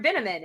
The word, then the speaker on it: Binnamon: up and she's like this is Mr binnamon and he goes rhymes with cinnamon yeah that was great